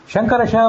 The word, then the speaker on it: ಶಂಕರ: ವ್ಯಾಕರಣ ಪುಸ್ತಕದಲ್ಲಿ ಎಲ್ಲಾದರೂ ತಾಲವ್ಯ ಶಕಾರ ಮೂರ್ಧನ್ಯ ಶಕಾರ ಅಂತ ನೀವು ಕೇಳಿದ್ರೆ ಅದು ಇದು ಈಗ ನೋಡ್ರಿ ಶಂಕರ ಶಂಕರ ಷಣ್ಮುಖ ನಾನು ಉಚ್ಚಾರಣೆ ಮಾಡೋದನ್ನ ಗಮನಿಸರಿ ಶಂಕರ ಇದು ಷಣ್ಮುಖ ಶಂಕರ ಶಿ ತಾಲುವಿನಿಂದ ಹುಟ್ಟಿದ ಶಕಾರ ಷಣ್ಮುಖ ಇದು ಮೂರ್ಧದಿಂದ ಹುಟ್ಟಿದ್ದು ಈಗ ಇವೆರಡು ವ್ಯತ್ಯಾಸ ಗೊತ್ತಿಲ್ದೆ